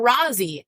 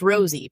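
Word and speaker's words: Rozzi: Rosie Who David Hennessy called Mr Rousy his name is pronounced Rosie people who know him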